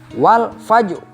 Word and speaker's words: walfajri: lalu ada huruf ro nah cara membacanya adalah walfajri jadi rohnya Hai atau bentuk bibir itu Hai mencucu atau mencoba Enggak ini Hai untuk bibir itu Lancip lancip Hai pokoknya bentuk bibir